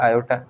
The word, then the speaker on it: iota: इन्होंने कहा कि जो √-1 है ना, ये चीज़ बराबर है आयोटा के, और आयोटा की स्पेलिंग है IOTA। ये ग्रीक लेटर है आयोटा, दिखने में आई की तरह है बट इसको आयोटा कहते हैं।